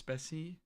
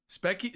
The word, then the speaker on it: Spessy: I'm like, you know, technically it's Spessy, but... Specky... So, the story behind Specky is Twitch text-to-speech would pronounce Spessy Specky.